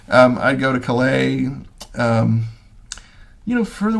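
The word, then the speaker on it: Calais: Britain, the British put the emphasis on the wrong syllable. Um, I'd go to Klay, um, you know, for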